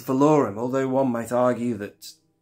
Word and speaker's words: Valorum: Chancellor vorm although who allowed Tim Curry to pronounce it valorum in the Clone Wars what was happening day filon how did you let that happen it's not valorum it's vorum although one might argue that pronunciation is up